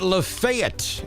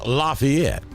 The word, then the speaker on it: LaFayette: jeffrey is in lafayette we pronounce it lafayette in alabama over here in georgia it is lafayette uh let's see regina